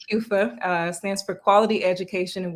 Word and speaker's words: QEWFA: in togo yeah so the organization like you pronounce it correctly kufa stands for quality education and water for all